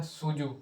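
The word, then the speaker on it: Cuju: football जो थी वो उसको कहा जाता था सूजू सूजू या कुजू जो भी कह ले सी यू जे इसके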